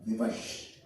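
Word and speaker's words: विवश: And Bevas is the mispronunciation or colloquial pronunciation of Vivash, which is Sanskrit.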